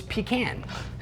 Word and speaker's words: pecan: to eat an entire pecan pie, then napped for several hours. It sounds wonderful. That one's pronounced pecan. Oh, it's pecan.